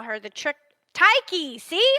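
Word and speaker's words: Tyche: call her the trick taiki see I'm saying it wrong you say like a k not like a CH it's spelled CH so it throws you off thank you thank you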